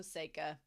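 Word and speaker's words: Seika: I almost said psycha again. So, Seikka. We'll just do it.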